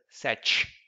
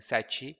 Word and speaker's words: sete: This can also be pronounced as sete, like this, without the sound, as in sete, but sete.